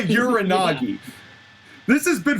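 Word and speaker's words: Uranage: So hey, Michael Cole called it Uranagi, so my pronunciation is correct. Fuck you. No, Michael Cole's pronunciation is correct. You are still wrong. It is still a Uranagi.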